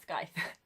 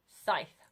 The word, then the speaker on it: Scythe: skype by neil schusterman um not skype scythe i can never pronounce that word scythe by neil shusterman